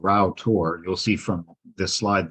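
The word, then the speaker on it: Rough Tor: them which is called Rao tour you'll see from this slide that it's it's spelled rough but pronounced Rao and the nearby powercropping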